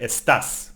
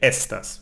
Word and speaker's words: estás: And here we have to be careful because the A has an accent, so we stress this syllable. So we say estás, no? No, we don't say estas, we say estás, no?